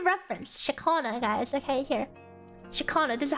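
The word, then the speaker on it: Ciaccona: Shakana. This is how you pronounce it. Okay. Shakana. Shakana. We have a certified Italian telling us that it's pronounced like this.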